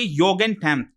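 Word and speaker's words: Jugendamt: नाम लिखा हुआ है, ये इसको बेसिकली प्रोनाउंस करेंगे योगेनटैम्ट। ठीक है, योगेनटैम्ट इसको प्रोनाउंस किया जाता है।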